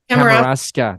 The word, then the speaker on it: Kamouraska: Am I pronouncing that right? Kamouraska.